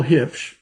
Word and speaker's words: Huebsch: Cole Hitch, and I, you know, I look at Allan now because he keeps pronouncing that last name right.